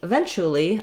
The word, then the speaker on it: eventually: schwa and the l eventual eventual then finally eventually i'll get eventually where we we just basically